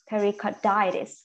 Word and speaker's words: pericarditis: inflammation right so Perry pericarditis again when you see it itis and you need to and you need to stress in on that word okay right so it